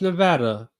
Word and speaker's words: Nevada: sorry Nevada it's pronounced Nevada even though it sounds more hillbilly than if you say Nevada Nevada Nevada it's Reno